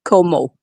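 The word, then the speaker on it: Comeau: It's It's Marie Marie France and her last name is Como. Like as if like coom mo if you want. It's not spelled like that, but that's that's how it's pronounced.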